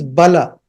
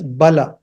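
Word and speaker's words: बल: But if you write BALA, then it means Bala. It has to be pronounced as Bala.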